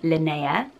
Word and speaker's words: Linnea: been for definite and that is the name Linnea there's a store isn't there for scanning when you're watching there's two Swedish called Linnea in Sweden I've always thought it was linear